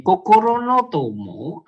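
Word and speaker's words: 心の友: itu tomodachi kemah cantik Kokoronotomo artinya jadi Bacanya jangan datar begitu Kokoronotomo no Kokoro No Tomo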